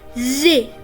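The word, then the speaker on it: з: which is a consonant after that we have Zay Z which is also a consonant after that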